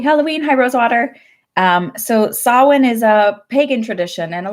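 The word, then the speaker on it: Samhain: bit about solvent if you see it it's spelled like Si mhm IM and happy halloween high rose water so Sawa niz a pagan tradition and a lot of the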